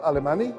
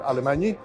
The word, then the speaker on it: Alemañy: My name is Alemañy, or Alemañy, depending on how you want to pronounce it.